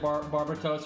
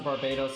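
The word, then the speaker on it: Barbatos: the grimoire thing people have pronounced it barbara toast or barbados since forever though like it's one of those tomato tomato things literally in genji pronounced it both ways which is so weird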